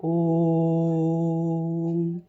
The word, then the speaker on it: ओम: जाता है जैसे ओम ओम का उच्चारण करते समय ओ को लंबा खींचा जाता ओम इसलिए इसमें उससे भी